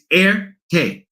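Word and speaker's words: Erté: used his initials and in English you pronounce those initials RT but in Francais in France in French it's airte so thus the name Airtech and I forgot the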